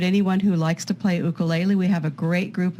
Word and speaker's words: ukulele: that would include anyone who likes to play ukulele.